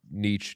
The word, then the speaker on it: niche: niche artist except they Niche Niche how do you why am I having Niche right yeah I think it's niche but people say it like the artist uh but like the